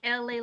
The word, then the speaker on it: Elay: Hi, it's me, LA, pronounced like LA like the city.